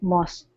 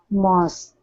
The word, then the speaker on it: mosques: She listened to the calls to prayer from the many mosques. Mosques. Mosques. So it's a KS sound.